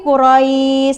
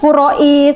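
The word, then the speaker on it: قريش: Dibacanya lembut ya. Liilafi qurais. Lembut kan? Kalau kaku kan qurais gitu ya. Itu tidak boleh.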